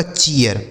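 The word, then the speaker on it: cheer: सी H double E आर, सी एच से हो गया च, इस डबल ई का उच्चारण ईया, आर से र, यह लिखा गया आपका चियर।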